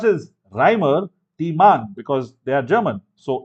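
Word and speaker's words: Reimer–Tiemann: 573 Kelvin lovely okay 5c reman reaction yes Remar Tean reaction actually pronounce as Rhymer T man because they are German so e is pronounce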